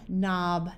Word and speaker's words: knob: in Signal or malignant when you have k n together the K is silent like in no knob Knack knife and not notice